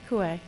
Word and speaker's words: Coet: Coué. Coet is correct? Yeah, Right. T silent. Some people will pronounce it with the T.